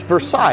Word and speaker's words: Versailles: Do you guys really say it like that? It's Versailles, you know that, right?